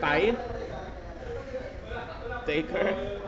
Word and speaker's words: Tithe Taker: It's pronounced as Tithe Taker.